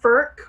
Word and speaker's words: Furch: like people would say ferch which i did at one point but i believe it's pronounced ferc like with a k at the end kind of so they're amazing amazing